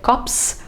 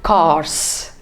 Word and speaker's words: Corps: So the NCC is not the National Cadet Corps, but it is the National Cadet Corps, CORPS. The P is silent there.